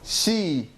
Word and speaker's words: شي: Alright, so we have the alif, so shy. Shy. هذا مو شاي, هذا أقوى. How do we read this? She. So we don't have that alif sound. She. What does she mean?